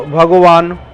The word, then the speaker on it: Bhagavan: So Bhagavan, this word also is having two syllables in it, Bhag and Van.